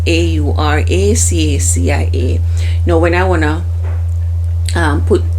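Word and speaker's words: Aura Cacia: And the brand that I use for that is, I'm not sure if I'm going to pronounce it right. It's called Auracacia. It's pronounced that way, and it's spelled Auracacia.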